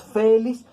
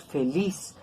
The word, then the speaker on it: feliz: aguda compro sódico tenedor feliz no lo pronunciamos félix pronunciamos feliz así como lombriz codorniz